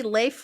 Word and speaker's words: Leif: K I A N Kylin Shore Leif L A I F. Is that how you say that? I I mean I assume it's supposed to be Leif like Leif Ericson, but that's correctly.